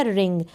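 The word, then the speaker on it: wring: कर रहे हैं फिर यह रिंग इसको भी डब्लू से स्टार्ट हो रही है स्पेलिंग डब्लू साइलेंट रहेगा और आठ से हम स्पेलिंग को रीड करेंगे रिंग रिंग का मतलब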